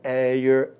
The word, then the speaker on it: heir: An hour, an honest man, an heir, an honor. Uma hora, um homem honesto, um herdeiro, uma honra. Então, H aí, nessas 4 palavrinhas, é mudo, é como se a palavra começasse na segunda letra aí, pessoal.